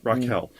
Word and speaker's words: Raquel: It'd be spelled RAKWEL. WEL. Yes, Raquel.